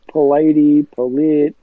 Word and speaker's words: Polite: It's Polite, whatever, so I'm used to it. Yeah, try saying. That's how it's spelled.